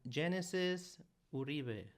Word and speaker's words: Genesis Uribe: Today in the studio, I have Genesisuribee. Did I pronounce it right?